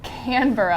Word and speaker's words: Canberra: Canberra, That's what the Australia. locals say.